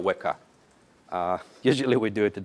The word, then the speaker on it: Weka: It's actually a trillion exabytes, and it's pronounced as Greek unit, so mega, exa, Weka.